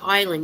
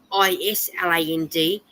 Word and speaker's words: island: Like Lar say to me, it's the same with island. You know how it's spelled I S L A N D. You're saying island, but you don't pronounce the S.